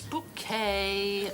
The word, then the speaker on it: Bucket: i remember really fondly it's bouquet b-u-c-k-e-t bouquet the accent on the second syllable one that i used